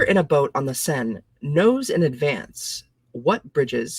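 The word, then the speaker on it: Seine: you say it though Paris France let's see pronunciation sen thank you okay so where are you River quote The Traveler in a boat on the sen on the okay let's try again the traveler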